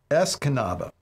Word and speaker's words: Escanaba: town but I remember it rhymes with the Dutch Brothers drink I had last week which was a mangonata I should be able to see it right now Escanaba yes Escanaba Mission the